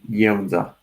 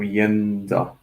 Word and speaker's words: Jedza: maybe, you would say Jedza. So like first syllable of the name Yennefer, so Jedza, Jedza.